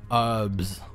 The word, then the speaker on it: herbs: Yeah, I don't know why Americans pronounce herbs as herbs. Where does that H go?